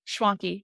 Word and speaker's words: Schwanke: Hey, Matt, we just came off chatting with Allie Schwanke. Rhymes with donkey, everybody.